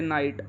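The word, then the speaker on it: night: रही है लाइट similarly जैसे नाइट नाइट में भी ग को साइलेंट रखा गया है और आई के बाद डायरेक्ट टेक के साउंड सुनाई दे रही है इसको हम इसको नाइट बोलते हैं तो आपने देखा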